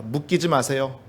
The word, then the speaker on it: 묶이지 마세요: 묶이지 마세요. 묶이지 마세요. 네, 발음 잘하셔야 됩니다. 웃기지 마세요가 아니에요. 묶이지 마세요랍니다.